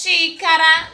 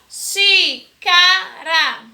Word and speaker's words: xícara: Quantas vezes xícara, xícara, xícara, que tem se escreve com X, mas possui o som de CH.